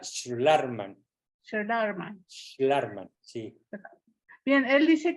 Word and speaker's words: Schlarman: Se pronuncia Schlarman.